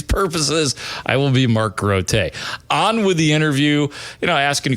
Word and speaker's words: Grote: and said, "Oh, Mark Grote?" I said, "Oh no, actually it's actually pronounced Mark Grote is the name. I work for WBBM Radio." He goes, "Nope." He goes, "You're Mark Grote."